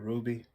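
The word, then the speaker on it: RWBY: Ruby.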